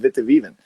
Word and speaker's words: Witte Wieven: on uh on on everything going on with Vitivven. Well, thank you. Uh thanks so much. And you're also pronouncing it perfect.